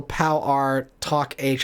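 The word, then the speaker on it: Pow R. Toc H.: interesting um the instrumental pal r talk h i think is how it's pronounced not one of the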